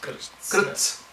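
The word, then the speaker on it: कृत्स्न: that pronounced? Krishna Vitaya. Krishna. Krits.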